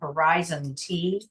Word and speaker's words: Horizont: a horizon horizon don't ask me how you pronounce it Horizon T horiz Horizon sorry horizont horizont okay Clint I'll